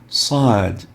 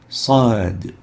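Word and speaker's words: صاد: and the name we call this letter is sad sad to know how to differentiate the sod from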